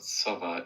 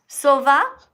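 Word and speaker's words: sowa: It It's pronounced Sova. It's Polish. I'm Polish. Sova. Yes, it means owl in Polish.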